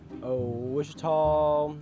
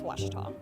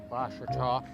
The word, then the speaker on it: Ouachita: Back in Texas, everybody pronounces it Wichita, but really, it's Washita. Washita. Washita. How would you pronounce it? Washita. Washita.